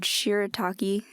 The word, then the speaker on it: shirataki: And I had some, I have no idea how to say this word, shirataki. Is that how you say it? Yeah, that's That's right. it. Oh, Yeah, okay. shirataki. I had some shirataki noodles and Alfredo.